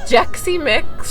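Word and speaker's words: Xexymix: It's not pronounced Sexy Mix. It's I always thought it was Sexy Mix. Jexy Mix.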